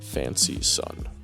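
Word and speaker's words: Fancyson: essentially his rival, Squilliam Fancy Son. Yeah, that's his actual name, Fancy Son. But it's it's one word, but it still doesn't take away from the fact that it's pronounced Fancy Son.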